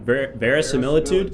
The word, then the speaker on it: verisimilitude: This is destroying the verisimilitude. How do you say that? Verisimilitude?